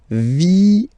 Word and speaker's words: vienne: And the rule in French is that when you get this E and a double vowel after, you will have to pronounce this E like E, all right? So, vienne, vienne, vienne, vienne, okay?